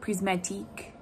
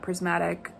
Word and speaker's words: Prismatique: So like, it's supposed to be like Prismatique, not Prismatic.